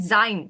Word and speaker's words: sein: So what is the pronunciation for this? A. A and the letter, what's I in German? E. E. And this combination, I just said sein. So what's the sound? A. Sein.